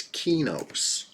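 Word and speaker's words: Qeynos: So I always said Kanos, but I'm hearing from the same people who said Lucklin is officially correct also say it's Kinos.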